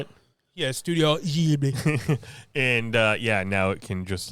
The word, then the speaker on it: Ghibli: Yeah, Studio Ghibli.